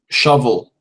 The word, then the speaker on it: shovel: Shovel. Shovel. Okay. Yeah. Why shovel? Shovel. Yeah? Yeah, it's strange. Yeah, that's just how we pronounce it. Yeah, it's spelled with an O, but we say shovel.